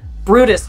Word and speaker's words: Bryde's: 9 times, it's definitely Brutus whale. Brutus whales are extremely rare, and their name is incredibly hard to pronounce. Not phonetic.